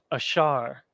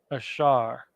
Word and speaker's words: Asher: Columbia to Uruguay ashar there's your ah there's your sha and then your ra ashar join the Shah and the ra together again in the Assyrian